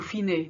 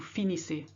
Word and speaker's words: finissez: They say vous finez, doesn't mean anything. Vous finissez.